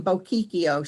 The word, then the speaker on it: Bocchicchio: to say her name, Bocchicchio. She used to pretend she was making a bow. My name is Miss Bow, and then a key in the door, and then an O.